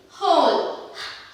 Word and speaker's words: whole: Whoல வந்து H and O is pronounced. Who, whom, whom, whole, whole, and the W becomes silent.